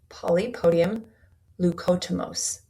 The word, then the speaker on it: Polypodium leucotomos: And I'm going to try and pronounce this correctly, but the supplement is called Polypodium leucotomos.